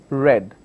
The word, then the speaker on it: read: word which is read my past tense is also read it just that the pronunciation will change as read I have read this book okay so please don't